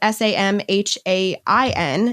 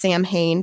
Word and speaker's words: Samhain: roots back to the um celtic holiday holiday salwyn which is spelled i s-a-m-h-a-i-n it's not pronounced samhain but that's what it looks like it's not no it's samhain are you serious yes dead serious i was